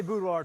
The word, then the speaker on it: boudoir: Can't say boudoir 3 times. You never pronounce That's true.